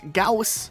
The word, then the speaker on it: Gauss: comes from the German physicist Johan Karl Friedrich Gauss who theorized the magnetic effect used by magnetic